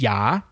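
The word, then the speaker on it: ย่า: Yours is Ya. Yes. not ya. It's got two A's in there. You got to Right. pronounce both of them, ya.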